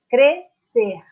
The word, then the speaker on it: crescer: Esse dígrafo, ele representa apenas um som. Crescer.